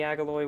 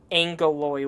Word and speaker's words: Agaloy: the former hero of the Agaloy War. Oh, sorry, Angaloy War. Yeah, you don't you might not have noticed this earlier, Zelda Chic. It's spelled Agaloy, but pronounced Angaloy for some reason.